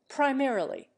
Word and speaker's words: primarily: syllable there are again pianists primarily and telegrapher the English accent the first syllable of each we commonly accent the second in temporarily they also